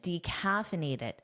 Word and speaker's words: decaffeinated: Notice that strong D pronunciation, decaffeinated, but native speakers generally shorten this to simply decaf. Decaf.